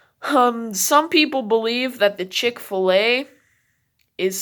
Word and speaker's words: Chick-fil-A: But it's also, we say Chick-fil-A. It's not really a fillet.